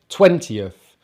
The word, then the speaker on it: twentieth: but unlike the teens these big numbers we stress the first part of the number so twen t of twentieth 30th 40th 50th 60th